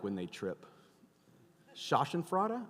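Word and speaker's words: Schadenfreude: like when they trip shashan fra I think that's how you say it right did I say that right say it again shoten frea which is German for I like watching you fail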